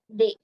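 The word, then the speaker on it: des: they which is some d s is pronounced as they t h e y you can write down for the pronunciation t e y day so it means some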